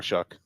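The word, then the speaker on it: Shough: Shout out to Tyler Shuck. And his name is spelled like like show. Like though. Yeah. Like do but with an S.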